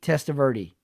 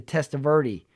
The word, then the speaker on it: Testaverde: So, I kind of thought it was like more Italian to say Testaverde as opposed to the Spanish pronunciation.